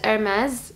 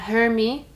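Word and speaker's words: Hermès: بتكلم الحين عن ماركة إرماز أو إرماز، واسمها باي ذا واي إرماز بالنطق الفرنسي، بس يعني إحنا نقول إرماز، مش اسمها هيرمي ولا إرمي ولا هرمز، اسمها إرماز أو إرماز بالإنجليش. anyways لأنه وايد يستفزني اللي يقولون هيرمي، I don't know.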